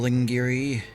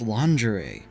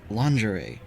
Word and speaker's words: lingerie: It's like a anime bunny girl Lingiri. Lingiri. It It's pronounced lingerie. What the hell are you talking about? It's spelled lingieri. It's a French word derived from their word for linen. It's pronounced lingerie.